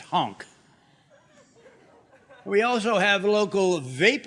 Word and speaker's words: Hank: I look forward to sharing how my many years in the pageant circuit have prepared me to be President Hank. Oh, well, it's actually pronounced honk.